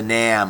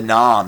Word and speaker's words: NAM: Now we're going to look at the North American model, otherwise referred to as the NAM or the NOM, depending on how you want to pronounce it.